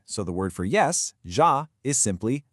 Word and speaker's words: ja: And finally, the J sounds just like the English Y. So the word for yes, ja, is simply ja.